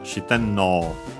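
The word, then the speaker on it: 四天王: But anyway, the accent is on the no. Shiten no.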